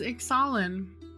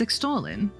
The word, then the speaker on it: Ixalan: It says Ixalan. There's no T in it. There can be silent letters. It's extolling.